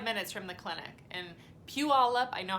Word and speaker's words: Puyallup: sister lived 25 minutes from the clinic and Puyallup I know how to say it now Puyallup Washington and I called her and my cousins